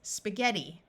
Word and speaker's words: spaghetti: there are also a few words where GH has a hard G sound of G in this word the I is going to take on a long e sound so this word is spaghetti now I would like